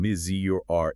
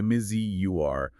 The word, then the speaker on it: Missouri: Sometimes they'll consciously use both pronunciations in a single speech, pivoting from miz z to miz zur uh to try and signal authenticity to this broader culturally segmented electorate.